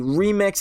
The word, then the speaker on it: R3MX: was pretty cool obviously the r3mx or the remix as it's properly pronounced I guess you could